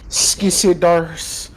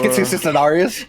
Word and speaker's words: Skitsidarius: I look over at Skisidars. Alright. Yeah, it's pronounced Skitsidarius. Skisidars. There's an extra skit in there.